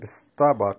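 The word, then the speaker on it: вставать: এই ভার্বটা ইউজ হয় স্থাবাজ স্তাবাজ এখানে ভটা উচ্চারণ হবে না বলতে পারি স্থাবাজ স্তাবাচটাও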